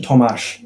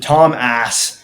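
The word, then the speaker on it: Tomáš: That's how you say his name. Tomash. Tomash. What did I say? Yeah, you said Tom Ass.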